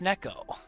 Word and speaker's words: Nek0: And uh today, I learned it is pronounced Neco.